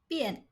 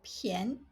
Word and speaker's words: 便: Bian, bian, or pian, pian. When pronounced as bian, it means convenient, plain. Even if, or pian is cheap, 便宜.